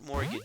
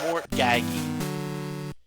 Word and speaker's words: mortgage: Because I don't want to get into a situation where I have to mortgage something. Now, when I was growing up, when I was like younger, I always thought that said mortgaggy.